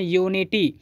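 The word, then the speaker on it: unity: बवेल letter है और लेकिन जब हम इसका उच्चारण करते हैं तो यह पढ़ते हैं यू नियटी तो यह एक व्यंजन जैसा उच्चारण हो रहा है और यूनिटी भी सिंगुलर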